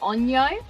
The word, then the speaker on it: Onyro: gonna say there's like i've heard three different pronunciations but i believe the most common common one is onyo i spell o n